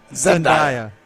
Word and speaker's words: Zendaya: gonna bring up Zendaya please say her name correctly well wait what is it then Zendaya Zendaya sorry I'm not that